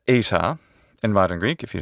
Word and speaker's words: eta: of the letter because that's how it has to be pronounced in english it's called phonotactics look it up so